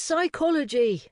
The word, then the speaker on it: psychology: It's not common sense, it's psychology, Ernie insisted. Most people don't even know it's spelled with a silent P.